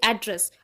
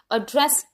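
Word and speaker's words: address: तो ऐसे में क्या होता है, अगर हम किसी वर्ड को एज अ नाउन प्रोनाउंस कर रहे हैं तो उसका फर्स्ट सिलेबल पे स्ट्रेस आएगा। जैसे एड्रेस, एड्रेस यहाँ पे हम किसी लोकेशन की बात कर रहे हैं कि ये एड्रेस कहाँ पे हमें मिलेगा। वहीं हम इसी वर्ड को एज अ वर्ब प्रोनाउंस कर रहे हैं, एड्रेस प्रोनाउंस करेंगे।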